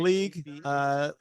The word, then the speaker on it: Liag: So it looks like Sliab, and league is pronounced like football league, but it's spelled LIAG.